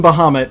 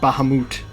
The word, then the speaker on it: Bahamut: And that's pronounced wrong, because they actually call him Bahamut in the base game. Not Bahamut. Bahamut.